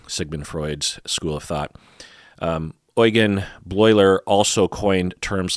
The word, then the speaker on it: Eugen Bleuler: would be Eugen or Eugen Bleuler, but it's pronounced Eugen Bleuler.